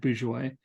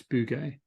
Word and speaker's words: Bouguer: I think I said Bourgeois, but I think it's Bugay. Oh, Bouguer. the one that looks like booger. Yeah, the one that looks like Booger, but it's Bugay. I think is the French pronunciation.